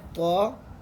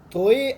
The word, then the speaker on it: ط: ایک ہے تو. اب کچھ لوگ اس کو پڑھتے ہیں توئے. دیکھو توئے ہم عربک میں نہیں پڑھ سکتے، یہ ہماری جو پاکستانی